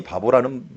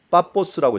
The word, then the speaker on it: 파포스: 파포스라고 부르는데 우리나라 번역이 피 발음 같은 걸 다 브 발음으로 해놓다 보니까 파포스가 어떻게 보면은 바보가 돼버리는 그런 결과를 가져왔어요.